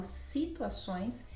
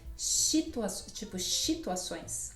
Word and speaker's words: situações: Você falou do S inicial, mas olha só a pronúncia que você fez de situações. Eu falo situações e você disse situações.